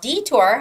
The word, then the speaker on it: detour: make a detour now detour has a stress on the first e detour uh and the